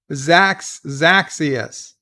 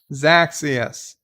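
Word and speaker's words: Xaxius: It's pronounced, the first X sounds like a Z, and the second X sounds like an X. Zaxius. I apologize. Zaxius.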